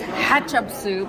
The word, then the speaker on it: Hatshepsut: It's Hatshepsut. Okay, and Ketchup with an H.